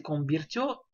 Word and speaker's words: convirtió: Donc, la informática se convirtió, d'ailleurs ici, nous avons un i, parce que l'accent tonique est sur le O.